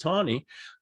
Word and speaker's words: Taney: Roger Taney, spelled Taney, by the way, but pronounced Taney.